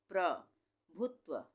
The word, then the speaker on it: प्रभुत्व: प का उच्चारण आधा हो रहा है, र का पूरा हो रहा है। प्रभुत्व, प्रभुत्व।